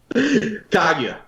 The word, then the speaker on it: Kaguya: Well, you said it wrong, so... Did I? Kaguya.